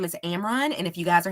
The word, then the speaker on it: Amron: again my name is Amron and if you guys are having problems pronouncing it that's like Cameron without the ca um again I'm the